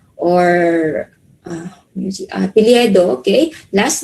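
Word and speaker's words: を: uh tohono this one the character wo but it is pronounced as o okay so it is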